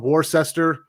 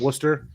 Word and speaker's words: Worcester: worcester is kind of it's spelled warcester i called it warcester like uh you know a true american would but uh those people up in boston call it worcester so it's kind of